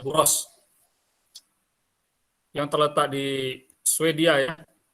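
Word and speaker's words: Borås: Ole Engstrom, dan yang mewakili Buros University, tulisannya Boras ya, tapi kita bacanya Buros, yang terletak di Swedia ya.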